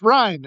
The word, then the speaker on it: Rhein: Well, that's like the Americanized version cuz I've heard like German speaking people would say rain, but it's just we've gotten used to it that way.